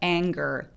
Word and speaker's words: anger: 발음한다고 생각하시면 돼요 자 두 번째는 n 뒤에 쥐가 바로 따라왔을 때 얘를 소리를내는 경우인데요 자이 첫 단어 하나다라고 할 때 앵어라고 읽지 않잖아요 그래서라고 연결하죠 그래서 Anger Anger 코 소리 내면서 여기 지금 보이는 센